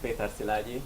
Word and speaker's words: Péter Szilágyi: so hello everyone so if you really want to pronounce my name it's pronounced Peter silai but Peter is really fine so don't struggle with